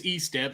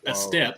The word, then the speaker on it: Estep: joined us is Estep who we just now taught Connie how to pronounce it e-step not a step I want to make